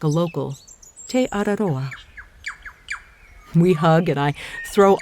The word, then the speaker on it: Te Araroa: sound maybe just a bit like a local Teodoro we hug and I throw olive oil on